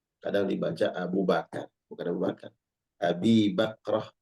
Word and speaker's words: Abu Bakar: Apalagi Ubi Bakar, salah itu. Ya. Pernah ada yang salah membaca. Ya. Abu Bakar dia baca Ubi Bakar. Pagi-pagi Nabi Shallallahu Alaihi Wasallam mencari Abu Bakar, dia salah bacanya.